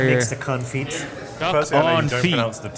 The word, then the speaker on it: confit: makes the confit? Duck Firstly, I know on you don't feet. pronounce the T. By the way, that's what they It's say. duck confit.